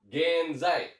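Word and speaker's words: 現在: Betul, jawabannya adalah genzai ya, genzai.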